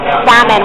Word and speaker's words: salmon: what you just said salmon salmon we don't pronounce the L in New York okay